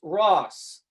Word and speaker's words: ROS: the community as well it is pronounced ross like from friends not ros if you say ros